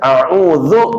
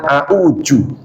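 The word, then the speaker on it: أعوذ: Orang Betawi biasanya a'udzu dibaca a'uju. Nah, secara ilmu tajwidnya itu salah.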